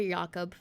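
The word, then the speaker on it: Jakob: It is Yakob. Okay. I was like, it's either Jacob or YaKob. And yeah, the J is silent. Okay, Yakob.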